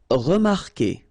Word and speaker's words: remarquer: Okay, remember that when we've got this Q, and after that, well, vowel like here. Anyway, you've got to put this vowel U, even if you don't pronounce it. Okay, so it will go like que.